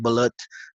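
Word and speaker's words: balut: bullet you mean yeah it's pronounced bullet now she doesn't she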